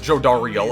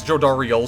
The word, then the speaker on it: Jodariel: Okay, no, he says Jodariel. Okay, well then. Can regain their freedom. He's pronouncing it as Jodariel, so I'll just pronounce her name as such then. Fine. If the announcer is saying Jodariel, then fine, I'll follow suit.